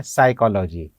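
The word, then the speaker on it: psychology: पी एस वाई सी एच ओ एल ओ जी वाई उसे हम उच्चारित करते हैं साइकोलॉजी पी साइलेंट रहता है के साइलेंट रहता है आई एस एल ए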